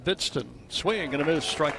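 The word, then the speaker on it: Hbidsten: 1 strike to count to Bidston. Pitch is high. Young man spells his name H-B-I-D-S-T-E-N. He is from Minnesota. You're getting that down. Silent H. Pronounced Bidston.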